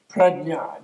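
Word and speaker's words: prajñā: In Sanskrit, which is a sort of primal Indo-European language, it's gnya, jnya, it's a J, it's even hard to pronounce, jnya.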